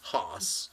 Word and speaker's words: Haas: So, yeah, it rhymes with boss, which is Haas.